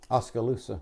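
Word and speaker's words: Oskaloosa: But I was gonna say you are true atla because when you did leave uh how do you say that one congregation Oska Oscaloosa.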